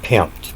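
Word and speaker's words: πέμπτη: And you'll see that that's the word that I pronounce as pempt, p e m p e t h, pempt.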